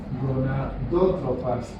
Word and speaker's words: gonadótropas: Y estas de las gónadas serán gonadótropas, acento en esta última.